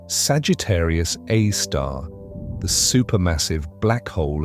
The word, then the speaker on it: Sagittarius A*: This object is Sagittarius A, pronounced Sagittarius A star, the super massive black hole at the center of the Milky Way.